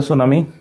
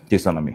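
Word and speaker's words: tsunami: alphabet প্রথমেই থাকে যেমন টি আর এস থাকলে সেই টি এর উচ্চারণ হয় না এস এর উচ্চারণ হয়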